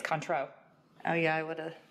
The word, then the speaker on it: Cointreau: liqueur we're using Renee's taught me how to pronounce this recently it's Cointreau oh yeah I would have I stayed far away I've been pronouncing it wrong for years apparently it's Cointreau I stayed I don't know if that's enough